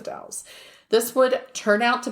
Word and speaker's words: Dalles: But it's spelled like, so for people, it's spelled Dalles, but it's the Dalles.